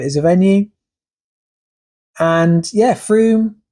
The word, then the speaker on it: Frome: For those of you who don't know Frome, it is pronounced Frome, F-R-O-M-E, although we get a lot of visitors here who call it Frome, especially when we go and watch live music.